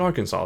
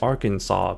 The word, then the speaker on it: Arkansas: You know, you have Kansas and then you have Arkansas, but it's spelled R Kansas, so it's like why is it not AR like our Kansas, but it's just like Yeah, I don't know.